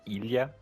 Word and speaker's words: Ilia: But like in Russian, you say like Ilia, like Ilia, right? It's like an E sound in English.